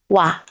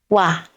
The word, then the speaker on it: 와: that position empty so we use ㅇ(i-eung) as a silent consonant now let's write ㅇ(i-eung) and ㅘ(wa) what letter is this? yes 와(wa) 와(wa) 와(wa) can be an exclamation in Korean it's like wah~!